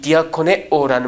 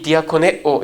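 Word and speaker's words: διακονέω: 이 디아코네오라는 말은 식탁 시중을 들다 해요. 여러분, 이 디아코네오, 이 발음이 디컨하고 닮았죠?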